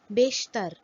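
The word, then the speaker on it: بیشتر: The sound produced by Ya-e-Majhool is A. For example, Jeem, Badi Ya, Be, Jeb, pocket. Be, Badi Ya, Sheen, Te, Re, Beshtar, mostly.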